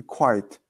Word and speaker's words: quiet: It's two parts. Quiet. Two syllables.